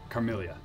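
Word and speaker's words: Carmillia: It's Carmelia. C-A-R-M-I-L-L-I-A? Yes. Okay. So like it's spelled.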